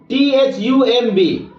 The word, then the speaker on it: thumb: और भी उदाहरण है, जैसे इसको पढ़िए THUMB। अब देखिए एम के बाद बी है तो फिर यहां पर हम लोग क्या करेंगे, इस बी को साइलेंट पढ़ेंगे, मतलब बी को हम लोग बोलेंगे ही नहीं।